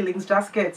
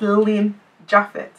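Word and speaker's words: Lynn Japhet: that a lot of people pronounce my name funny cuz I hear that people say ling jet or no it's Lin jaffet Lin l y n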